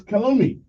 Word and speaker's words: calumny: The word is calumny.